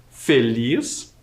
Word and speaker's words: feliz: Feliz, um som mais fechado, fê.